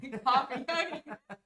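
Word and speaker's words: Ko-fi: and spam okay so so kofi or coffee sounds like coffee is how you pronounce it um it's it's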